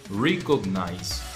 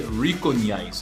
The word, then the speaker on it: recognize: pronounce it this one we say recognize recognize you don't say recognize no the next one